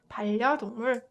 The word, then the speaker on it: 반려동물: So 반려동물, 반려동물. You can see that 은 softened to 을 to make it more comfortable.